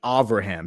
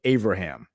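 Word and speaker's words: Avraham: It's actually Abraham. So, you replace the B with a V in in Hebrew and say Abraham.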